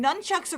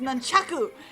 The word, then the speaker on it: nunchaku: You just swing nunchucks around in your little karate class. It's pronounced nunchaku and it's not karate.